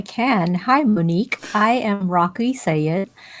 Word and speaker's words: Raqi: I am Raqi Syed. My name is easier to pronounce than it looks. The Q without the U is not done in English. That's why it's confusing. Raqi.